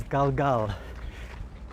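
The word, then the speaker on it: גלגל: Circle in Hebrew is galgal.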